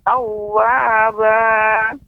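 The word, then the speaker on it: تَوَّابًا: Innahu kana tawwaba. Ya. Ketika pengucapan wa itu dimonyongkan, Nek. Tawwaba. Sehingga benar-benar pas pengucapannya.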